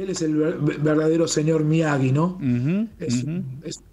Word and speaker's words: Miyagi: cómo es la pronunciación muy bien muy bien pronunciado miagi porque en realidad Cuando vos lo ves escrito se dice mii no porque es m Yi pero está muy bien pronunciado que es miagi y es un apellido bastante común en okinagua